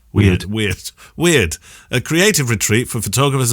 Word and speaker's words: Wyrd: I wanted to reach out because recently I've been building something called Word. How would you pronounce WYRD, Kev? Is that word or wired? Wired? Weird.